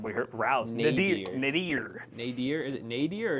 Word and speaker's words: nadir: Nadir. Nadir. Nadir? Is it Nadir or Nadir? Nadir. Nadir. Nadir. N-A-D-I-R. But it's pronounced nay.